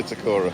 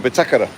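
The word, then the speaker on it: Bitácora: That's not called the Bitacora. No? No. It's called the Bitacora. No, it's called the Bitakara. Oh, the Bitacora.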